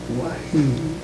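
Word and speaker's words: Waheed: That's that's pronounced there about like that. Micah. Micah. Wah. Wahed. Wahed.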